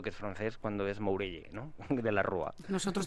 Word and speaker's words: Mourelle: este señor ni saben quién es pues lo pronunciamos de la forma no y ha perdido un poco el sentido se habla de Morel o de muguel pensando que es francés cuando es moury no de la rua Nosotros tampoco lo sabíamos